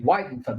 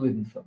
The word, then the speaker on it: Widenfelt: Widenfelt, not Widenfelt.